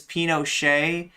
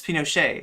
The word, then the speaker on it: Pinochet: Okay, but like, I mean, the right way to say it is Pinochet. Bad Empanada saying it wrong. The T is silent. It's Pinochet.